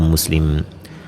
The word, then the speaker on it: Muslim: Imam Buha, Imam Muslim e a pronúncia é imam muslim.